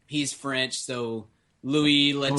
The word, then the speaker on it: Louis Leterrier: I don't know how you pronounce the director's name. He's French, so Louis Leterrier. Louis Leterrier.